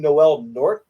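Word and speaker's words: Noel Nordh: 72nd overall, I'm assuming Noel Nord. There's a weird H at the end there.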